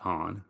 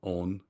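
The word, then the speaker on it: 恩: It's pronounced on, not on, on.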